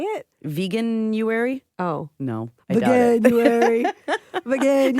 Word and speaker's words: Veganuary: Veganuary. Veganuary. I think it's Veganuary. It's supposed to rhyme with January.